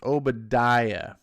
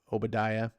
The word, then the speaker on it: Obadiah: Ed Brewer says Obadiah.